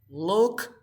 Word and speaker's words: looked: So when you add ed, you pronounce this like T. So you say looked.